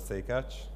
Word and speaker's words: Szekacs: this presentation will be the pronunciation of my name so again it's somewhat say catch i had some hard